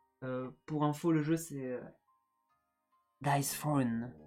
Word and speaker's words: Dice Throne: Pour info, le jeu c'est Dice Throne. Dice Throne. Je sais pas comment on le prononce. Tiens, toi et ton anglais là. Comment tu dis Comme Game of Thrones.